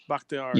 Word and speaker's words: Bakhtiari: Bakhtiari.